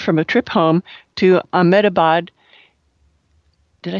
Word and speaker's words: Ahmedabad: neighbor recently returned from a trip home to ahmedabad did i say that right ahmed about yeah got enough syllables in there gujarat india he related that